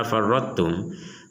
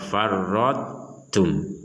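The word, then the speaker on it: فرطتم: Contohnya di sini kata farrattum, huruf ta dimasukkan kepada huruf ta tapi tidak sempurna dan ditandai dengan huruf ta-nya ini tidak ada tasdid. Kalau yang pertama tadi ada tasdid, yang di sini tidak ada tasdid karena huruf ta-nya tetap harus ada sifat yang harus disebutkan. Contoh farrattum, farrattum.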